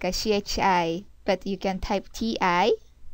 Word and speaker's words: ち: either t i or chhi but actually the pronunciation for this CH is more closer when you pronounce Chi CH it's